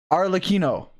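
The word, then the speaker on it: Arlecchino: someone who speaks Italian the cchi in that name is pronounced like a key AR Lino oh but then why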